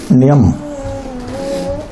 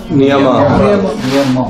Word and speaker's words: niyama: How do you pronounce this word? Niyama. Niyama. Niyam. Niyam or Niyama or Niyama? Niyama. The M and Ma. Niyama.